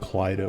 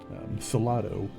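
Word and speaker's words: Cylado: Diary of um Cil I pronounced it wrong last week I think I called it cido or something salato it's c y l a d o um anywh who in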